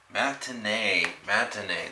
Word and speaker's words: matinee: Matinee, that's how you pronounce it.